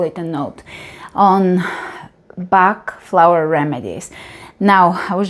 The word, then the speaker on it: Bach: He came from a Welsh family, so the Welsh pronunciation is Bach. In England, he was called Bach. So either way, I think both names were used depending. His actual pronunciation would have been Bach in the Welsh tradition, more like Bach.